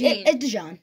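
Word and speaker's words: DeJean: for pick 31 uh is this kooper dejon is that how you say it or de it's Deon Deon okay so for the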